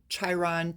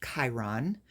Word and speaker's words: Chiron: Um, it looks like it's pronounced Chiron, Chiron, Chiron, but the actual pronunciation is Chiron.